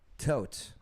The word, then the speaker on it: Toth: Tote. Okay. He spells it Toth. I know that's how it's pronounced.